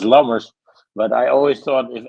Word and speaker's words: Lammers: I always it's Lammers, but I always thought if ever I go